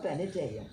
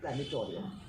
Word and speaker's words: planetarium: And planetarium, it's called planetarium, but we always called it planetorium. And I was an English teacher. Imagine, I was an English teacher. And I didn't know the pronunciation. So I said planetorium.